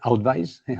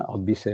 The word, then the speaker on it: Outvise: y y director de Outvis. Eh, antes has dicho Outbise. Bueno, podemos pronunciar al española o al inglesa. Outbise o outvise.